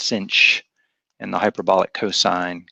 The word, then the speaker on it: sinh: talked about before, the hyperbolic sine, which is pronounced sinh, and the hyperbolic cosine, cosh.